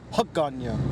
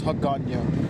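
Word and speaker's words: Hagåtña: But in the traditional, like the original Chamorro language, the village is called Hagana. Hagana, spelled H-A-G-A-T-H-A, I believe, if I remember. It's Hagana. But and also see that big church right there?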